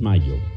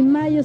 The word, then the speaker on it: Mallo: Les saludan Amparo e Imelda, las jilguerillas, para decirles: aquí donde canta el gallo está Laboratorios Mayo, y Mayo se escribe como gallo, LLO, Laboratorios Mayo.